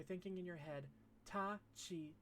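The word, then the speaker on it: ち: It's ta, chi, tsu, te, to. As we discussed before, there are no t or tu sounds in Japanese.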